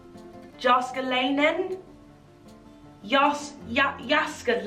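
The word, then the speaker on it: Jääskeläinen: this name Percy ilmari the surname begins with the J do you pronounce that or not I don't know I want to say no but I don't know why Chuck jaska line then jóska Lanen yes yup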